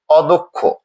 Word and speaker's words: অদক্ষ: আমরা দেখছি দয়ের সাথে যে অকারটি ছিল তার পরের ধ্বনিটি ক্ষীয় হওয়ার ফলে অকারটি ওকার রূপে উচ্চারিত হয়েছে, অদক্ষ।